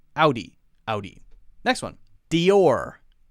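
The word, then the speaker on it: Dior: know how to say D or is how we say it D or two syllable word it doesn't sound like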